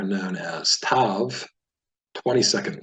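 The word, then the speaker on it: תו: So when we see this letter, no matter what is in the middle, we'll pronounce it with the T, as in the word towel, Tav.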